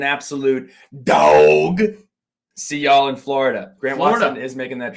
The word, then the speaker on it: Florida: Florida is 3 syllables. I looked this up. However, we're giving you a pass because who really says Florida? I'm more of a Florida guy.